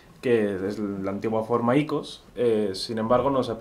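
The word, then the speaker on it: οἶκος: Bueno, nosotros pronunciamos el diptongo omicron iota y, como lo hacen los griegos, vaya, desde hace muchísimos siglos. Aunque hay otros que lo pronuncian oikos o ikia.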